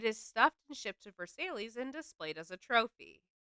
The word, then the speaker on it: Versailles: I think here we pronounce it Versailles. because we're uneducated. I mean, but the one in France is indeed Versailles.